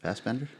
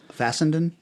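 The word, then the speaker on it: Larry Fessenden: How do you say that? Fassbender? The kind of wild-looking guy who plays a lot of weird character stuff. Fassenden? Yeah, Okay. that's it.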